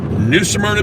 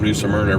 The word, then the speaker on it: New Smyrna: back res situated and now we're headed for new samna Beach Florida we hope to be there around